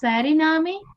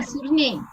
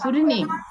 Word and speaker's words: Suriname: Sari, it is Sariname. Sa, is it Sa pronunciation? ma'am, Ah, Suriname. Name, Name illa. Okay, it is name only, no? N-A-M-E. Yes, Suriname. Fine?